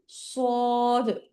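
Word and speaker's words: صاد: শেষে দইবার উচ্চারণ হবে এখানে আমি একটা কথা সবাইকে বলে দিচ্ছি কেউ সয়াদ দোয়াদ এরকমভাবে পড়বেন না হ্যা সয়াদ দোয়াদ এরকম ভাবে পড়বেন না সবাই হচ্ছে সদ আপনাদেরকে দ এরকম হবে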